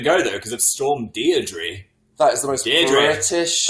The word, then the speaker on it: Deirdre: It's Deirdre. Defo. No, it's not. I watched Coronation Street. Deirdre Rashid. I mean, is that like a location pronunciation? That's how they say it in the north. Deirdre.